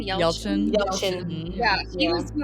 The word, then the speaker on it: Yelchin: Yelchin.